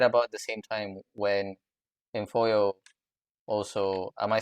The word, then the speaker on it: Imfuyo: in it's right about the same time when infoo also am I saying it right I'm sorry